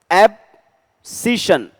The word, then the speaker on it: abscission: अभी इसको अगर हम एक प्रोनाउंसिएशन के तौर पे देखें तो ए बी को आप अलग रख लो, एब्सिशन, श की साउंड आती है, एब्सिशन।